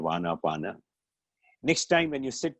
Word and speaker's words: Anapana: Prana and aprana together became Anapan, or they anglicized the pronunciation of Anapana.